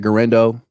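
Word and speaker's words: Guerendo: I'm just happy that gendo rhymes with Fernando and that he's good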